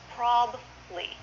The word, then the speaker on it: probably: in this is probably this word is often pronounced probably two syllables probably I do have